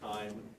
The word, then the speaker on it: chyme: That is pronounced chyme.